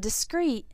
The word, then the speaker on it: discrete: discreet and discreet from espresso English dotnet these words are pronounced the same and they are both